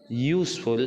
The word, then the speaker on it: useful: Okay, but in this case useful, if you pronounce useful, we see that in that particular pronunciation first alphabet sounds like Y.